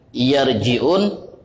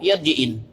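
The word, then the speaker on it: يرجعون: Jadi saat beliau ingin membaca ayat yang bunyinya laallahum yarjiun ya tiba-tiba beliau bacanya laallahum yarjiin. Kalimat yang gak mungkin budak kecil pun gak mungkin salah macau jadi yarjiin. Yarjiun itulah pasti.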